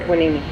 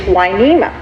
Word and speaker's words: Hueneme: working for the Spanish, they couldn't quite pronunciate Hueneme because the W in the language, you think of huevos, rancheros, that sort of thing. So they translated Hueneme into Hueneme. And that's how we got our name, and we've always been